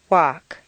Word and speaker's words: walk: Chalk, talk, walk.